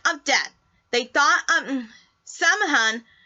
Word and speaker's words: Samhain: Samhain is spelled S-A-M-H-A-I-N.